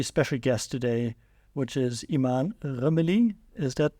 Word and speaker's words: Imane Rmili: Today we're in Morocco, and I'm very excited to have a very special guest today, which is Imane Rmili. Is that pronounced correctly?